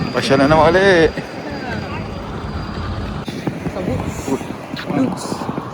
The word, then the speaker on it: Łódź: Nandito tayo ngayon sa Lourdes, pero pagbigkasin nila ay Woods, Poland.